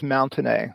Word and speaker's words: Mountenay: I have an odd nickname of, that follows me around, and the last name is Mountenay.